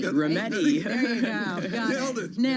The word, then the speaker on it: Rometty: Ginny, I'm not going to pronounce your last name. That's all right. Rometty. Rometty.